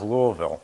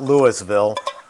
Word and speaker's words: Louisville: I'm from New York I know how to pronounce Louisville it's not Louisville it's Louisville I went to the Kentucky